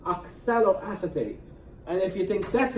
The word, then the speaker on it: oxaloacetate: you really know how to stop here it's pronounced oxaloacetate and if you think that's a tough one